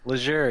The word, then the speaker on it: Laizure: 4.5 years later, Rob Laizure. Did I say it right? Laizure, yes.